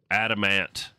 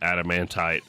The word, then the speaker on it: adamant: And then it needs that with adamantite dust, which we can get from crushing or pulverizing adamant Adam adamant. Not adamantite. I'm adding letters and syllables.